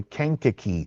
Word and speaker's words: Kankakee: It's heading over to Kankakee. I actually worked over that area. That is the way you pronounce it.